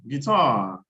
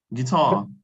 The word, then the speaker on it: guitar: going to give you guitar okay guitar like guard what did you say